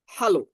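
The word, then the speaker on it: Hallo: দেখেন, এইচটাকে আমরা হা পড়েছিলাম, এটাকে আমরা পড়ছিলাম আ, আর এলটা উচ্চারণ এল এর মতোই হবে, অর্থাৎ আমরা উচ্চারণ এল পড়ছিলাম, বাট ইংরেজি এল এর মতোই উচ্চারণ হবে ওয়ার্ডের ভিতর। হ্যালো, হ্যালো, হা আ এল এল ও, হ্যালো।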